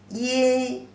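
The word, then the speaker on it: 因: The pronunciation as yin, yin, yi, yin, yin, the first tone, yin, right from outside to inside.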